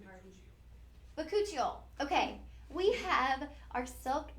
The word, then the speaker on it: bakuchiol: Pronunciation party. Bakuchiol. Okay, we have our Silk Genesis Bakuchiol.